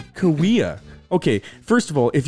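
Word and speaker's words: Cahuilla: great great kawaii or creek or whatever right kahula creek is i think how i pronounced it dude i got hate how how i got hate on youtube it's pronounced kawea okay first of all if you want it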